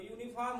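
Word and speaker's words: uniform: भी सत्य है, लेकिन इसका जब हम लोग उच्चारण करेंगे तो यूनिफॉर्म होगा और यहां पर पहला वर्ण है यू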